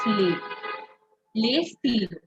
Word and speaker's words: les: pronounced as Leo Le you don't pronounce the S you only pronounce le le let's look at the